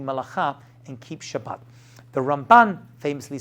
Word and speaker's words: Ramban: think it comes from ramban yeah ramban the way it's rambam and ramban way you pronounce it's different I learn you Shiva